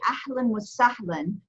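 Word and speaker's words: أهلا وسهلا: There's actually tanween feta on both of these aleph, okay? So you have tanween feta on the first aleph here, ahlan wa sahlan, okay? So you're going to have tanween feta, which makes that new sound, okay?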